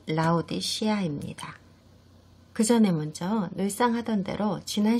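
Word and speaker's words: Laodicea: 일곱 서신 중에서 마지막 서신이자 아시아의 라오디게아 성회에 보내신 서신을 공부하게 되실 건데요. 정확한 발음은 라오디 시아입니다.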